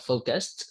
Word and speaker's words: focused: Because focused, you you had the ending sound focused, right? And it would be unfair if you forgot the ending sound of the word relaxed.